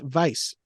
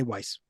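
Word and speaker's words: Weisz: actually clarifies she said it's actually pronounced Vice but she lets people just say Weiss so just like Brendan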